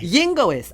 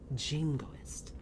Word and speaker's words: jingoist: I was and looking then at a she'd be like, yingoist, I have it. And I'm like, jingoist. It's with a J.